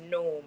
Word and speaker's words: gnome: o m e but the g is silent so it's gome okay Dennis ask Dennis